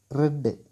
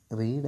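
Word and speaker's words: read: യു റെഡ്, അതിൻ്റെ ഉച്ചാരണം റീഡ് എന്നല്ല റെഡ് എന്നാണ്. അതിൻ്റെ അർത്ഥം നീ വായിച്ചു.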